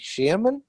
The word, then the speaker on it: Shearman: of the financial services industry group at uh chairman sterling am i pronouncing that right barney shearman yeah that's right and uh yeah yeah thanks